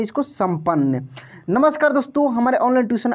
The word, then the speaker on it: संपन्न: जैसे यहाँ पे लिखा है संपन्न। क्या लिखा है? संपन्न। देखिए यहाँ पे म का उच्चारण हो रहा है लेकिन बिंदी लगा हुआ है, ठीक ना।